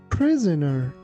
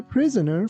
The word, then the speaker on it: prisoner: He has been a prisoner for many years. Here be careful that letter S sounds like Z.